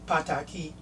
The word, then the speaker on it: pataki: And in Yoruba, when a vowel comes before a consonant at the end, you don't stress that last letter, that last consonant. So it's pataki.